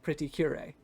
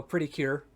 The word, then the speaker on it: Pretty Cure: playing games or watching Pretty Curie yeah that's a bit of a fun thing what's the other one called uh Pretty Cure So Pretty Cure is the English pronunciation for it but in Japanese that's